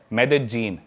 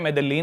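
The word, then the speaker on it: Medellín: उसकी एक सिटी है मेदजीन। स्पेलिंग में उसमें डबल एल आता है। मेदलीन होता है। लेकिन कोलंबियन स्पैनिश में ल बोलते हैं।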